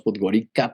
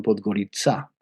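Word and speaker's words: Podgorica: Nosotros decimos podgarica, pero la C es una sedilla esla y ellos la pronuncian podgoritzá.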